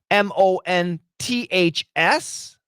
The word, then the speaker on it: months: ooh now what happens perfect pronunciation we say months you can see my th with my tongue months and then you can hear my S at the end but when Americans say it fast the th is gone and we say months